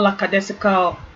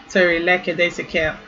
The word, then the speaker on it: lackadaisical: So note that the word is not lackadaisical but but lackadaisical.